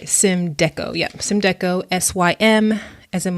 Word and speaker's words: Symdeko: Make sure I'm pronouncing this right. Symdeko.